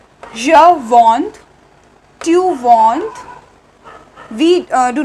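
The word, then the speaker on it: je vends: So the pronunciations like je vond, tu vond, we do not pronounce S. ठीक है, S is silent in all these.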